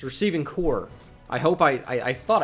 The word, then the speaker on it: corps: also it's not receiving corpse it's receiving core i hope i i thought i heard him say corpse it is spelled c-o-r-p-s you got me there that's pronounced core if you didn't know